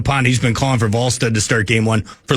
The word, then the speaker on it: Wallstedt: You like to emphasize the Wall. Yeah, how do you pronounce his name? Jesper Wallstedt. Wall. Wallstedt.